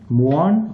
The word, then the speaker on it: mu: or me you can see me some people pronounce this letter as me also me mu Mo okay but for in physics we pronounce